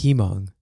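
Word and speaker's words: Hmong: You said Himong. It's He-Mong. Oh, am I not pronouncing the he?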